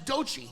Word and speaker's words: Doechii: That's Doechii.